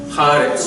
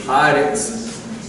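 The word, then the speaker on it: הָאָרֶץ: ha there, it converts haaretz, just to make it easier to speak, haaretz, but it retains its signature. But the emphasis is still on the first syllable.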